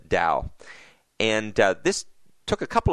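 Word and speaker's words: TAO: a version of Corbett which we call the ACE orb pronounced Dow and this took a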